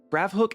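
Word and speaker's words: Gravhoek: He said it was like Windhook, and I took that literally, but he simply was referring to the H O E K part of the name.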